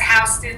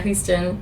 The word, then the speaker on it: Houston: Or like New York has Houston Street, even though it's not like Houston. Yeah, Houston. It's Houston.